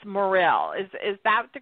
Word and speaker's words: Morrill: the spelling of um last name it's Morel is is that the correct pronunciation yes it is m o r r